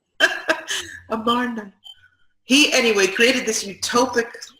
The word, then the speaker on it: Amarna: middle of the desert, which is called El Arman. I'm having trouble remembering exactly how to pronounce it. El Arman. Okay, I'll give you that in a minute. Amarna.